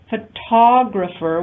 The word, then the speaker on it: photographer: Photograph, stress changes to photographer when we add the ER suffix.